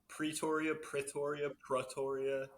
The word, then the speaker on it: Pretoria: How many different ways have you heard your band name pronounced? Mostly just two. Pretoria. Oh, okay. Yeah, Okay, so it's really emphasize the E, Pretoria. Yeah. Which I don't know. Proteria.